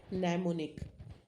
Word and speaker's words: mnemonic: कुछ भी, any trick you can invent, that is called memory trick, is called mnemonic, है ना? M sound नहीं होता है इसमें, तो that is silent, mnemonic.